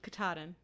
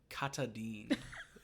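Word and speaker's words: Katahdin: mountain I just remembered um katadin yeah I've been I called it Kaden as a kid cuz it sounds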